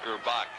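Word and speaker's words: Gurbach: Jim Gerbach spells his name G-U-R-B-A-C-H, but pronounces it Gerbach.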